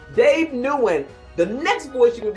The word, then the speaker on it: Nguyen: Dave Nugent. Am I saying it correctly? Yeah, I say Nguyen, but Nguyen. Oh, that's right. No, make it right. Dave Nguyen.